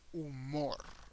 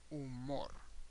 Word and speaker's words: humor: and in Spanish is umor okay umor humor umor and by the way in Spanish the H doesn't have a sound at all so never pronounce the h just ignore the H